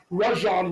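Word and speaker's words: Rajon: acquisition of Kevin Garnett and the drafting of Rajan Rajan Rondo as he wants to everybody to know is the true pronunciation of his name to come together and to win that championship.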